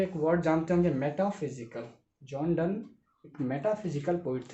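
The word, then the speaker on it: John Donne: ठीक है, लेकिन इसका प्रोनाउंसिएशन क्या है, जॉन डन।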